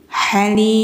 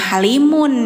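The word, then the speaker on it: حليم: Ghaniyun halim. Wallahu ghaniyun halim. Halim. Di sini teman-teman jangan bacanya halimun ya. Dimatiin aja mimnya karena kan kitanya mau wakaf, mau berhenti. Jadi bacanya jangan halimun.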